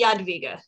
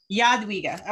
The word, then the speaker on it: Jadwiga: So I pronounce it Jadwiga. Jadwiga, okay.